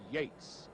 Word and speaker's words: Yeats: argument for all time, although it's spelt Yeats, he pronounces his name Yates.